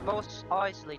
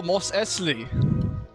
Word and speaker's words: Mos Eisley: Oh, Mos Eisley. Most Isley, yeah. Eisley. That's how they say it, Eisley. It's Isley. But, I thought it's Isley. Yeah. Yeah. No, I'm not it's, from there, but it's Isley.